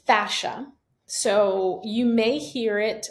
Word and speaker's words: fascia: you pronounce that word so the word is fascia so you may hear